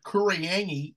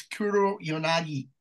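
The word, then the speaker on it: Kuroyanagi: So when all those fucking mentally retarded people in Adelaide call this like Kuriyangi, no, it's Kuro Yanagi.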